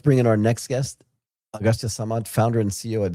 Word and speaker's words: Agastya: Martin, let's bring in our next guest, Agastya Samat, founder and CEO at Zeya Health. How are you? I'm doing great. So help me out and tell me how I properly pronounce your first name. Agastya, but you can call me AG for sure.